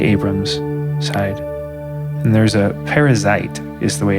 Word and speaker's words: Perizzite: side and there's a perizzite is the way it's it's spelled p r i z z i t so it's which is interesting because it sounds like parasite which but it's parazite I wonder if there's